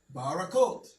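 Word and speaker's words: ברכות: How's that pronounced? The hay is gone. So, you just have barac. Say that again. Baracot. Baracot. Baracot. Hear that? Barot. Barakot.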